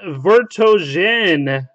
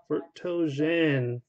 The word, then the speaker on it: Vertonghen: And our last hit is Jan Vertonghen. Vertonghen jersey autograph, 21 of 30, short printed. 21 of 30. H is silent.